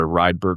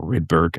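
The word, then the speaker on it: Rydberg: So someone talked about a Ryberg quantum simulator or Ridberg I've heard it pronounced both ways.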